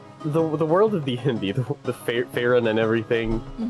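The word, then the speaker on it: Faerûn: Sorry, Faerun. Faerun is the correct way. Faerun. Yeah, that's how they pronounce it in the D&D movie, so I'm just gonna...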